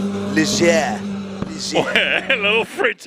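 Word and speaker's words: Ligier: Ligia. Ligia. A little French, a little French spice.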